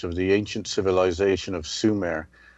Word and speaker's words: Sumer: Thank you, Justina, for letting me choose the subject of the ancient civilization of Sumere, which is spelled s u m e r, which is summer with only one m.